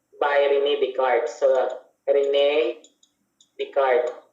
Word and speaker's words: Descartes: Ang S, apelyido niya, dahil French siya, ay hindi pinopronounce ang S. Wala silang S. Kaya Descartes ang basa dyan. Walang S. Okay? So, yung spelling ng pangalan niya, Descartes, pero hindi mo siya basahin yung S. Kasi silent S sa kanila.